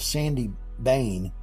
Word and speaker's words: Sawney Bean: the Scottish traditional story of Sandy Bane which is how sometimes they pronounced his name as it relates to